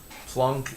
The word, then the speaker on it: Planck: h is known as plonk's constants plunk is spelled like planck because he was german planck's constant uh is